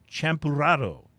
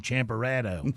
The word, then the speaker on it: Champurrado: And we'll be tasting White Elm Brewing Company's Champurrado. Nice. White boy pronunciation, Champurrado.